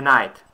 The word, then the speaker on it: knight: Англійські слова, де буква K не вимовляється. Відео номер 3. 11 слово – лицар. A knight.